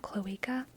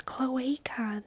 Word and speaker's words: cloaca: butt sh sh sh isn't it a long a sound cloa I think you're right yeah bur out club